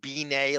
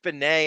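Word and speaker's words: Benét: Eric, you remember Howard was obsessed with Eric called him Eric Beay. Like it was like he mis deliberately mispronounced his name and they used to Oh, that's a great reference to Mara. Eric Benet and Hi.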